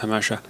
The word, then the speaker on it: Jamacha: It's written Jamacha, but it's pronounced Hamasha.